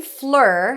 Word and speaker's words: Fleur: The name Fleur has the as in stir sound in American English. Of course, in French, that's a different pronunciation.